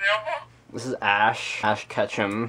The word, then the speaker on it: Ketchum: Ash Ketchum. Rhymes with ketchup, but not really, but make sure you think of ketchup.